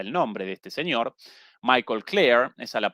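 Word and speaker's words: Michael Klare: Momento, responde, perdón, no presenté como la vez pasada el nombre de este señor Michael Claire. Esa la pronunciación eh correcta en Tom Dispatch, una publicación crítica de la izquierda estadounidense.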